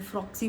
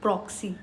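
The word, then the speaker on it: proxy: मैंने गलत बोल दिया। मैंने फ्रॉक्सी बोल दिया बट इट इज प्रोक्सी।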